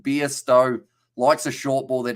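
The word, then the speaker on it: Bairstow: dictionary you go right beasto pronounced beer stowe likes a short ball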